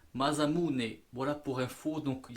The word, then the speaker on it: Masamune: à oiseaux ce modèle madame une mais j'ai eu des conseils de prononciation qui se dit madame unsa mot japonais ça se dit masamune voilà pour fo donc